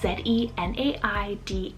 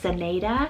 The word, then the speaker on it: Zenaida: the name Zenaida, spelled Z-E-N-A-I-D-A. Now you can pronounce this actually two different ways. I've heard it been pronounced Zenaida or Zenaida. Both ways are totally fine. It just depends on where you live.